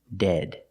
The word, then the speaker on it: dead: phone was dead pronunciation dead use the short e sound the sound e like head and bed dead let's practice what's wrong